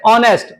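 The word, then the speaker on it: honest: होगा ऑनेस्ट कैसे होगा एच साइलेंट होगा और प्रोनंसिएशन कैसे ऑनेस्ट और ओ ऑनेस्ट क्या है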